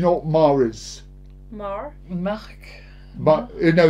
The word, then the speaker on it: Marc: Marc. No, you don't pronounce the C.